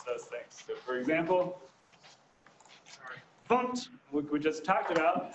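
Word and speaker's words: fmt: A quick question, why is it funct? Actually published a thing from the Go team that says that is how you pronounce the format.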